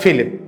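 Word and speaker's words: Philippe: France എന്ന് പറയുമ്പോൾ ഫിലിപ്പ് എന്നാണ് ഉച്ചാരണമെങ്കിലും എഴുതുന്നത് വ്യത്യാസപ്പെടും.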